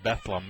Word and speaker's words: Bethlehem: not trying to be uh obnoxious but it's pronouncing bethleem I guess this kind of goes along the